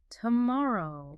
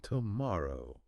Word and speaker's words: tomorrow: The syllable stress is absolutely critical. It's on the second syllable. Tomorrow. Tomorrow. Da doom da.